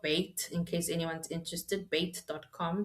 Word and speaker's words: Bayt: So it's Bait there. And yes, I know I'm saying it wrong. I'm not saying it the Arabic way, but I'm not Arabic, guys.